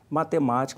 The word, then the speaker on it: Matemática: Matemática, uma proparoxítona, a sílaba tônica é o ma, onde tem o acento.